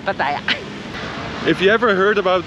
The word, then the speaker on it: Pattaya: And also the Thai, they pronounce it differently. They pronounce it as Pattaya? Pattaya. Pattaya. Pattaya. But we are tourists, so we're just gonna stick with Pattaya.